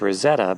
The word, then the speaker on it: Roseto: the south end of Rosetto pronounced Rosetta by its residents since the church sits